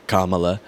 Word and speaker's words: Kamala: strange point but now there's one way to pronounce kamla Harris's first name it's kamla and their struggles with